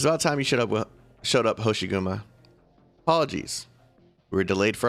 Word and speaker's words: Hoshiguma: Hoshiguma.